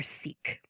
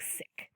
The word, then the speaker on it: Sikh: said sick um but that sounds very weird to our English ears english- speaking ears um so people here tend to say it more seik um but more properly that it should be pronounced more like siik so sism um and remember